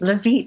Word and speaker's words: Levite: Is that how you pronounce that, Levite? Levite, yes, exactly.